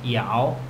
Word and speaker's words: 要: Want is 要, that's Y-A-O, so we say 我要啤酒, okay, I want beer.